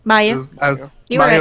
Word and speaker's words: Mayu: It's, how do I pronounce it? Mayu.